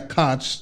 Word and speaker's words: Koch: Koch brothers. Right. Not Coke the soda.